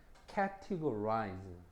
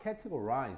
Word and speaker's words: categorize: 여기도 보면 강세가 앞에 있어. 그래서 우리가 보통 카테고리라는 말을 많이 쓰이죠. 그지? 그래서 발음을 잘 보면 categorize 됐지? 잘 봐라. categorize 그래서 이거는 분류하다.